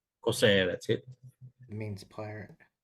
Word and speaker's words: Corsair: Yes, someone out there is having to explain why their kid is called Kossor, or how you pronounce that. Corsair. Corsair, that's it.